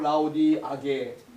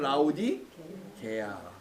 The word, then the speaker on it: 라오디게아: 이게 발음이 좀 어려워. 어떤 분은 라오디아게, 라오디게아, 나게아오디 뭐 여러 가지로 발음하는데 정확하게는 라오디게아.